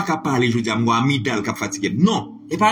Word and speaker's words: amygdale: Amygdale. En plus, le monde dit amygdale. Non, le G ne se prononce pas.